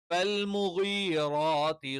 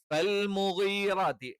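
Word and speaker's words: فالمغيرات: അപ്പോ ഫൽമുഗീറാത്തി നമ്മൾ മലയാളത്തിൽ ഗ എന്നൊക്കെ പറയും. ശരിക്ക് മുഗീറാത്തി എന്നുള്ള ഒരു ഉച്ചാരണം അറബിയിലില്ല. അറബിയിലുള്ള ഉച്ചാരണം എന്ന് പറയുന്നത് ഫൽമുഗീറാത്തി, ഫൽമുഗീറാത്തി സുബ്ഹ, ഫൽമുഗീറാത്തി. ഗൈനാണ്.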